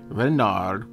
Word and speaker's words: Renard: Renard, with the accent on the Ren.